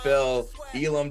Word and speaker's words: Phil Elam: with me i have a very special guest phil elam did i pronounce that correctly that's absolutely correct awesome awesome